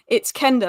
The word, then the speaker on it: Quenda: That makes more sense, because I kept saying Quenda, and they were like, "No, Alice, it's Kenda. Like, imagine it's a K, not a QU."